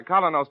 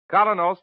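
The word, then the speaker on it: Kolynos: Keen is broadcast to you by Colinos toothpaste.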